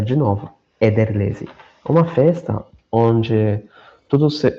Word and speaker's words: Ederlezi: Mas uma festa muito importante se chama, se chama-se, é, Ederlezi. Vou pronunciar de novo, Ederlezi.